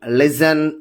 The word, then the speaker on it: listen: The letter T is not pronounced in the following common English words like castle, Christmas, fasten, listen, often, and then beret,